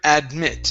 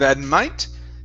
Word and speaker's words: admit: Let's go to the word admit instead of admite. Okay, admit. Admit. Admit. Okay, give me a short I instead of admit.